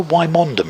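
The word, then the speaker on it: Wymondham: in any county where the place name spelled out a certain way but you don't pronounce it do you know where wymondum is i said no but i know where wyndham is 36 for one kelly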